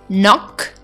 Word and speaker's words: knock: I told you that if we have letter K before the letter n we never pronounce this letter so here is that examples are knee knock knowledge or no so here you cannot pronounce the letter K because it is coming before the letter and it is silent so my dears today